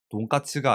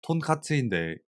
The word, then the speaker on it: 톤카츠: 문제는 문서의 위에서 볼 수 있듯이 일본어로 돈가스는 돈까츠가 아니고 톤카츠인데 이를 잘못 포기했다.